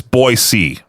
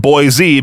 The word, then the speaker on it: Boise: You know, the biggest one is that it's Boise, not Boise, because then you get hit with that dumb thing of you're not from around here, are you?